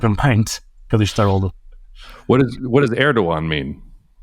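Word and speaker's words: Erdoğan: So Erdogan, it's in your last name. Like, how should they pronounce that and not so look if there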